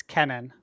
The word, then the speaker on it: Kenan: hours ago and and said it's Kenan not not Keenan like spelled k n n i I think that would be spell that way but yeah he corrected it and said it's with one e so yeah fair enough